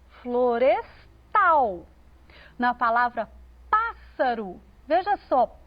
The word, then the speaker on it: florestal: Na palavra florestal, parece muito com a palavra floresta, mas a ênfase veio para o tal, florestal.